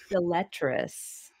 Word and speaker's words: deleterious: You're just shortening the third E to like a, you're underemphasizing it way too much. Got it, because it's not an er, it's an er.